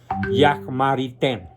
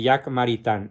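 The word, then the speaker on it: Jacques Maritain: tenía que ser francés Jack marité se escribe jaques maritain por si alguien quiere encontrar el libro que se llama Introducción a la filosofía de Jack maritan es el mejor comentarista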